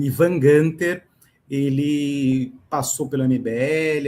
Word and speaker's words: Günther: Meu nome é Ivan Gunter, para quem tem dúvida da pronúncia. Tem um tremazinho no U. Aí ele sai com som de i.